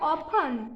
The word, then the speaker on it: often: उसके बाद OFTEN means ऑफर, इसमें भी टी नहीं, लिसन, टी नहीं बोलने का, लिसन। उसके बाद ऑफन।